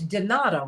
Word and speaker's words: Donata: and is it um it's donata right correct well you know i